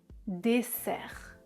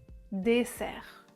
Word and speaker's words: dessert: Dessert, dessert, dessert. Je prononce dessert. Les cordes vocales ne vibrent pas.